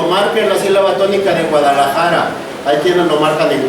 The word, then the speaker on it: Guadalajara: lo crean por ejemplo en la palabra Guadalajara Guadalajara sí la silaba tónica es la penúltima en Guadalajara es una palabra grave pero aunque no lo